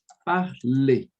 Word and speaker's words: parler: No francês, esses verbos com esse sufixo a gente não vai falar. Então, por exemplo, vai ficar assim, ó. Parler.